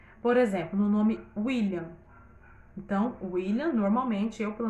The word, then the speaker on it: William: William tem som de U, mas se escreve com W.